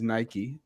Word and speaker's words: Nike: So I thought Nike was really cool. It's also two syllables, Nike, and in Latin America.